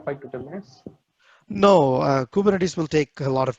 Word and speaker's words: Kubernetes: is a greek word kubernetes means a captain of his ship so as you can see kubernetes is pronounced as kubernetes which is a greek word for helmsman of a ship or a boat also